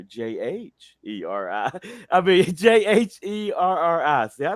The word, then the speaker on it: Jheri: Wow, there's a silent H in there. Jheri.